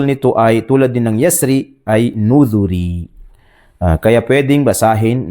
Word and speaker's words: يسر: Bakit daw pwedeng basahin o bigkasin ng murakkak itong kalima na ito? Dahil ang asal nito ay yasri, merong ya na mahdhuf o ghayru madhkur. Kaya pwedeng basahin ng wal-layli idha yasr, wal-layli idha yasr.